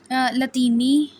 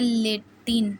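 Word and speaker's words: Latin: इसी तरह ये लतीनी जिसको कहते हैं लेटिन इसको लेतीन बोलेंगे। जो लेटिन नहीं बोलेंगे इसको लेतीन बोलेंगे। ठीक है? जो सही प्रोनाउंसिएशन है अच्छा।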